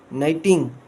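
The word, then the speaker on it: knitting: वन डे आई वॉज at home with my मॉम, शी वॉज नाइटिंग, के silent है underline, and आई हैड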